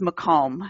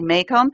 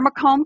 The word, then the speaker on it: Macomb: told you this beforehand but um it is mome and that's just the way we pronounce the name of our County but I can see a lot of people look at it and say make them especially if they are from certain parts of